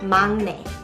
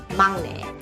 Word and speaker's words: 막내: And I know it is written as 막내, but you pronounce it as 막내. 막내.